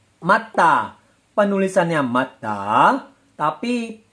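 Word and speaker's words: 맞다: Matda karena jiat bertemu dengan digat, bacim jiat bertemu dengan digat. Bacim digat berubah menjadi sang digat. Betul. Penulisannya matda, tapi pelafalannya matta.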